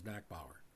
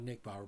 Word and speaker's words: Nachbaur: But we pronounce that in college as Nakbower or Nick, not Nick Bower, but Knackp Power. That's just a maritime pronunciation.